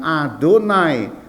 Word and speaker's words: Adonai: Jadi tulisannya YHWH, tapi ketika membaca mereka tidak mengucapkannya, langsung mengganti dengan Adonai. Adonai artinya Tuhan atau Tuhanku.